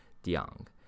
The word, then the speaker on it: Diang: an equally made-up pronunciation, Diang, a sort of contradiction of Dang Zongyang, that combines the initial and the tone from the first character Di with the final from the last character Yang.